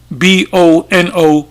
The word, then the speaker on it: cui bono: And the phrase is, I'll spell it C, as you can see, I'll put it up raw. It says Cuibono, which is cui bono.